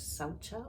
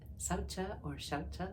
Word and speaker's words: saucha: And so the first of the niyamas was saucha or shaucha, pronounced differently by different people.